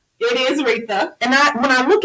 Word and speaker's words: Reathia: your name right because i know we say rita it is rita and i when i look at it isn't like right there it's pronounced different than this spell okay that's all